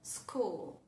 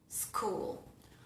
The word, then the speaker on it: school: Y cuando tenemos la tríada SCH, siempre suena el fonema K. Por ejemplo, en la palabra school, school, o en la palabra schedule, schedule.